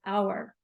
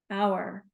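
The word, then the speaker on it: hour: words in English that start with a silent h like the word our our meaning 60 minutes we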